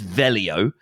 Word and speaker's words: Veglio: it's Swiss Italian so there are two ways of pronouncing it so you can either pronounce it the way that my dad has taught me to pronounce it because he's lazy and I didn't want to brush up on his Italian so we've always told people it's velio okay but if you're gonna